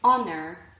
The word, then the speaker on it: honor: I showed you before honor our honest and air are actually the four words that I can think of and their derivatives where there's an H but it is not pronounced Okay so we've looked